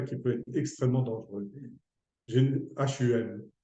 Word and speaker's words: hum: H-U-M, hum, hum. On prononce comme ça, hum.